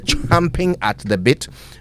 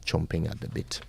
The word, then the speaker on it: champing at the bit: Report the team is champing at the bit by the way say it right it's champing at the bit not chomping at the bit champing at the bit